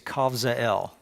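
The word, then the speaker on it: Kabzeel: in Judah called uh kav kavel technically it's kavel that's how you say it but he was from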